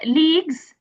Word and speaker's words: leagues: Um it's leagues. U E is silent or silent.